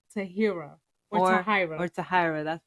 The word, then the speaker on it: Tahira: Tahira. Okay. Which we happen to Google, and it says pronunciation. You do pronounce the H, but how you gonna tell her mama how to say her name?